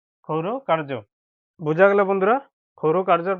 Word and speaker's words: ক্ষৌর: এই রেপটি এখানে র উচ্চারণ হবে বন্ধুরা, খৌর কার্য, ক্ষৌর কার্য।